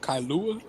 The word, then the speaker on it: Kailua: he's already bragging at all that's how you pronounce that kailua yeah it's on the island of wyoming i